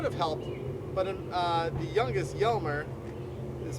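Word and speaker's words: Hjalmer: Now, our four younger brothers could have helped, but the youngest, Yelmer, is spelled H-J-A-L-M-E-R, was only 4 years old when Dad passed.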